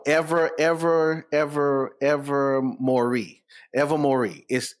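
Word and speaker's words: Ilvermorny: it's ever more ever ever ever ever Mory ever Mori is it's spell weird but it's it's it's it that's how it's pronounced I listen to guy on YouTube five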